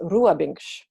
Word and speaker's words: Robins: Yeah, Now, and my last name, Robins, is actually pronounced Ruabinch, but it's spelled just like Robins, so it anglicizes. Ruabinch. Oh, you said that very well. Ruabinch.